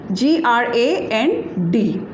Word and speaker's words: grand: That is G-R-A-N-D. G-R-A-N-D. And the pronunciation is grand.